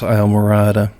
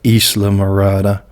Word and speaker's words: Islamorada: a big chuckle of trying to pronounce isle morata but it really makes more sense when you pronounce it in its spanish origins of islamorada what a wonderful day